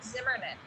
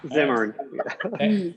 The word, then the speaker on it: Zimmern: fall issue on the Zinfandel Trail with Andrew Zimmerman. So there you go. And I mispronouncing his name too, but there you go. Zimmern.